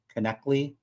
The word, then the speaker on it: Knechtle: By the way, everyone gets their last name incorrect. It's pronounced connectly.